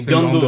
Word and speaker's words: Ngando: et cetera en fait c'est quand c'est quand tu as la tu as l'apostrophe faut tu prononces le la lettre devant et quand c'est clé tu tu la prononces pas d'accord ok d'accord ben